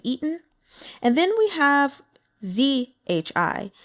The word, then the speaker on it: zhi: and then we have zhi so Z is going to be pronounced like the letter j j like um I